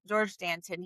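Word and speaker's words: Georges Danton: Well, you don't pronounce the S, but it would just be like Gor Dant. Dan, let's just call him Danton. Yeah, George Danton.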